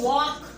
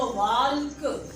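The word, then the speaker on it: walk: लेकिन जब आप कह रहे वॉक, टॉक, तो इन दोनों लफ्जों में क्योंकि मुंह खुल रहा है, आवाज़ बड़ी निकल रही है, तो आप एल को प्रोनाउंस नहीं कर रहे। जैसे मैं एग्जाम्पल दूँ कि अगर मैं को बोलो वाल्क, तो क्या होगा कि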